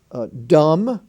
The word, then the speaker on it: dumb: the door jamb j-a-m-b dumb d-u-m-b but in the word dumb bell you hear the bee crumb c aram c-u-r-m-b-crum